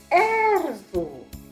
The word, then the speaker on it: Эрзу: Например, слово Эрзу. Эрзу. Ударение падает на первый слог.